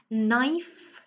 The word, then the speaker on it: knife: Knife, you start with the sound N.